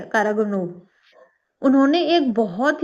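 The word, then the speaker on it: Караганов: Year 2023 में एक मशहूर रशियन डिफेंस इंटेलेक्चुअल है, सर्गी कारा सॉरी मैं इसका प्रोनाउंस नहीं कर रही हूँ, सर्गी कारागानोव, ठीक है, कारागानोव।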